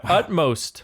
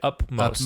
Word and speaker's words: utmost: Utmost. We're moving. Correct Utmost? pronunciation is utmost. Utmost. Yeah. People say upmost.